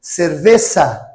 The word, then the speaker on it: cerveza: Então, o Z é um som de C cedilha. A palavra, por exemplo, cerveja em espanhol, nós falamos cerveza, cerveza, ok? Então, S com som de S mesmo, sacessisosu ou C cedilha, e o Z com som de C cedilha também.